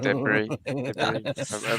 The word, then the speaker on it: debris: I might be talking absolute twaddle there when I said it French, but it does sound like it when you have a silent S.